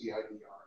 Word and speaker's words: CIDR: And my response to that was CIDR. Yes. So you mean cider notation. Yeah, or cider. But I pronounce it the Matt Payne way, which is cider.